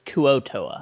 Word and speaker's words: Kuo-toa: I always forget how to spell Kuo-toa. It's like with a K. Yeah, I always spell it K-U-A instead of K-U-O. Because it's Kuo-toa.